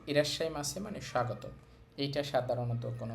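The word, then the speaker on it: いらっしゃいませ: শুরুতে আছে ইরাশাই এখানে ছোট সু আছে এর জন্য এটা বাদ যাবে আর পরের উচ্চারণটা ডবল হবে ইরাশাই মাছে ইরাশাই মাছে মানে স্বাগতম এটা সাধারণত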